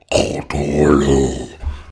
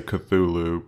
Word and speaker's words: Cthulhu: lot longer before that the correct pronunciation according to Lovecraft is something closer to all torkoal I think though most of us tend to say Cthulhu because it's easier so let's stick with Cthulhu here you know you're